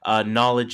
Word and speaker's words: Knxwledge: So that one is called Cauliflower, spelled with a K and without the E. So Cauliflower. Knowledge is a KNXWLEDGE.